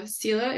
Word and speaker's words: Selha: a little tricky when people see it they want to pronounce every letter and it's the H is silent so it's CA like